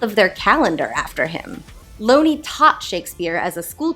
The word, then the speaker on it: Looney: In 1920, John Thomas Looney (rhymes with “bony”, I will not be